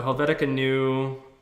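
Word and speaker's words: Helvetica Neue: we want to use helvetica Noya that's how you say it I'll bet again new say it yeah white guy American Way so helvetica new um that'll be good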